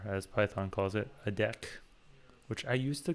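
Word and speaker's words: deque: it and or as python calls it a deck which I used to pronounce as DQ for a long time it's like because there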